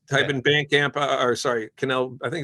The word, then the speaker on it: Kinell: so um where do we get it it's Canal correct yes I want to make sure correct pronounce the application right um where and where